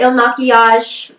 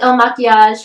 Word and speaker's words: IL MAKIAGE: the comments below um pretty sure it's pronounced el machias but who knows if you